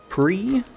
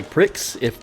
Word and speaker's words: Prix: is the Arkesia Grand Prix. You could also say Prix because that's how it's spelled. I know it's pronounced Prix, but whatever.